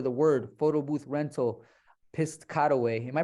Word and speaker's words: Piscataway: start ranking for the word photo booth rental pissed cutaway am I pronouncing it right yeah Piscataway Piscataway uh or even type in digital photo